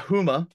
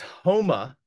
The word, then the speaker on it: Houma: So I hadn't actually no additional rebuttals, but I had a few people correct me on pronunciations. I just want to state for the record, it's not Houma, it's Houma, Louisiana.